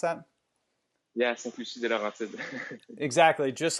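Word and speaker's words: Sainte-Lucie-des-Laurentides: Lucie, Quebec, or how do you pronounce that? Yeah, Saint-Lucie de Laurentides.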